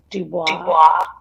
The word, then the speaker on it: Du Bois: Du Bois. Because you speak French fluently. You pronounced that correctly.